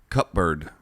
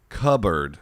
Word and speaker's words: cupboard: how they mispronounce it cupbird cup what when you say cup cupboard the piece should be silent cupboard yeah it's cupboard not cut bird yeah okay all idiots